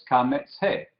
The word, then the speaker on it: kametz-he: Bueno, el nombre entonces de esa letra vocal es la combinación de los dos nombres, kametz-he. Kametz-he, bastante sencillo. Se pronuncia como la A, como padre, y se translitera con una A, no A y después la J de la G, ¿sí?